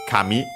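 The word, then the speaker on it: 神: Uh we use more often uh the term kami on its own accented also on the first syllable on the ca for god deity divinity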